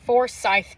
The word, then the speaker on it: Forsyth: It's Forsyth County, Forsyth. Forsyth just sounds better to me, so I've been saying Forsyth. I think I might still call it Forsyth, but no one corrected me. It's Forsyth County in Georgia.